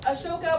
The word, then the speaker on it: Ashoka: So, Ashoka, which is also spelled A S O K A, but I picked this one because it makes you pronounce it right.